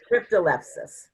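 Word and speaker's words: Cryptolepis: your slides, cryptol, I'm sorry if I can't pronounce it right. Cryptolepsis.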